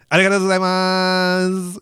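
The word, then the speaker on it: ありがとうございます: It was like what you would normally say, but like the way everyone says it in Japan is literally like arigato gozaimasu. They really hold like that last syllable.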